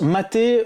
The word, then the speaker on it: MATE: même vous toucher deux mots à propos de maté pour ceux qui connaissent pas un petit peu